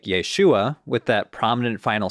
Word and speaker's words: Yeshua: probably sounded less like Yeshua with that prominent final syllable rhyming with words like comma or Llama Or iguana but closer to what